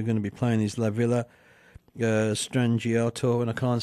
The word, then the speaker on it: La Villa Strangiato: One of the songs that we're going to be playing is La Villa Strangiato, and I can't say it, but everybody else probably knows what it is as well.